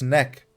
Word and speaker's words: Neck: this this is neck it's not gek it's neck it rhymes with gek come here neck let